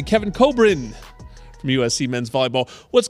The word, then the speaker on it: Kevin Kobrine: going into the break so coming out I'll pronounce it correctly Kevin Cobrin from USC men's volleyball what's going on man